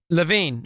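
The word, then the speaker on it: Levin: are the inductees uh by the vote Mark Levan uh this is the radio hall of fame uh is that pronounced right LaVine okay uh from Westwood one uh it just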